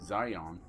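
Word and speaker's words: Xion: we go to although it's spelled Shion x i o n it's pronounced in the game by the voice actors Zion which is uh now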